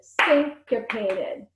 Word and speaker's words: syncopated: say that word together syncopated syncopate oh thanks got painted that's a four syllable word that's a big word syncopated think of a sink like um you know where you wash your hands syncopated alright so guys